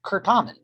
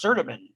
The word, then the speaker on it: Certamen: And it is pronounced Curtamen. So most people are, oh, what's Certamen?